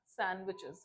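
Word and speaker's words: sandwiches: इसको सैंडविच नहीं कहना है। हां सैंडविचेस डी साइलेंट होता है।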